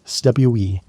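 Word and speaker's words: cwm: The Welsh call these valleys stwe. And if you've never heard that word pronounced properly, you're missing out on one of the languages most satisfying sounds. It rhymes with boom, but starts with a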